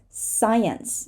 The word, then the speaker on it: science: what it is it is science science we're not going to say the C and this word is